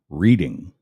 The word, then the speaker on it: Reading: You might not be thinking Reading because it's spelled reading, as in reading a book, but it's actually pronounced Reading.